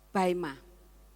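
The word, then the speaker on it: βῆμα: Baima. Bacanya baima.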